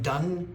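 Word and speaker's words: Donne: used used it John Knox used it John Dunn d o n NE e pronounced Dunn poet and writer used it um it was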